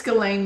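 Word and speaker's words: Ghislaine: And um and Joanie, you wanted to talk about Gain, how do you pronounce the name? It's Galain Maxwell.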